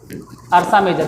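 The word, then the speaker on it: Ursa Major: तुमको कहां है बोलो तो स्पेलिंग अरसा मेजर के तुमको दिखाई दे रहा होगा य आर ए यूष इसको बोलते हैं य अरसा मेजर अरसा मेजर अरसा मेजर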